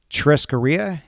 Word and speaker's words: churrascaria: On the website, you say that it's inspired by Brazilian churrascaria. Am I pronouncing that right?